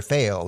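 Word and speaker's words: Faile: Her name is spelled F-A-I-L-E, and I've always just read it as Fail. Some people might say Fail-E, but this is a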